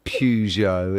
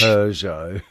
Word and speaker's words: Peugeot: It's not Pujo, it's Peugeot.